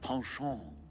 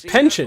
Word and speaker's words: penchant: Someone with a penchant for solving mysteries. Wait, that's how you pronounce that? So, this is my cue to go and dig a little. I thought it was pension.